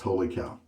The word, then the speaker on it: Wholly Kaw: of overpay then it pays to look around holy cow is the company name here holy cow it's spelled wooly call but it's pronounced holy cow and uh this is the Sierra base it's